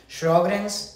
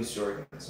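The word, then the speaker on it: Sjögren's: Doug, I don't know how to pronounce this, but do you operate on someone with Sjogren's syndrome? Yes, Sjogren's syndrome.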